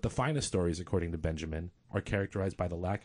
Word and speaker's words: Benjamin: tape Walter Benjamin Walter Benjamin Dube is German remember okay so I use an Americanized pronunciation obviously he's one of